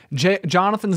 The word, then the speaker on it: Jonathan: Jonathan's name is spelled J-O-N-A-T-H-A-N. There is no first H. It's not like John the name.